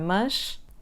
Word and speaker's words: mas: We're starting with the word "mas- but" which is pronounced /mɐʃ/. This sound is articulated with the low tongue and in the central area of the mouth.